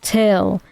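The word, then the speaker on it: Thgil: goes my name is till spelled t h g i l but it's pronounced till and basically it's light backwards he's just like looked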